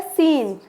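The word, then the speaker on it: scene: से पहले आ रहा है तो ये सी साइलेंट होगा नेक्स्ट आता है सीन ये सीन तो बहुत ही अच्छा था बहुत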